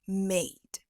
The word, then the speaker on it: made: made and at so these are words i' normally pronounce with an a sound so made eight I noticed that in your clip you use Simple vowel sound instead of this a diong so mate sounds more like M and eight sounds more